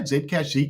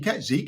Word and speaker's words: Zcash: Hey, do you reckon uh Zcash or how do you say Zedcash? Zcash Zcash. Yeah, either or.